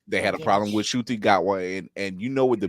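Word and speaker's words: Ncuti Gatwa: And I've got to learn to pronounce that guy's name properly. Shuti Gatwa. Shuti Gatwa.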